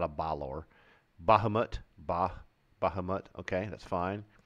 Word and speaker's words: Bahamut: how about that bailor yeah not a ballor Bahamut bah Bahamut okay that's fine bardashay this is